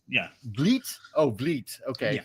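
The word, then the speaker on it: Vliet: Roland confirmed his pronounced Vleet yeah Vleet oh Vleet okay so it sounds more French that's why I'm ignorant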